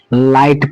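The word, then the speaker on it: light: यहां भी देखिए आई के बाद जीएसटी है। हमें इस जी एच को क्या करना है? छुपा देना है। साइलेंट कर देना है। तो हम इसको क्या पढ़ेंगे? लाइट पढ़ेंगे।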